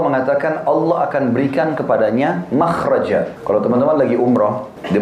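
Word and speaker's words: مخرج: Inggris kan exit ya bahasa Arabnya itu mim Kha ra Jim bacanya makhraj Kenapa digunakan kalimat itu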